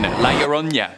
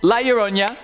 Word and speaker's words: La Llorona: And number 1, La Llorona. Now, last time you guys made fun of my pronunciation for this, and I would like to